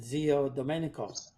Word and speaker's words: Zio Domenico: So it should be, if you're going to do the right pronunciation, Zio Domenico, but they always call them Zimanguch.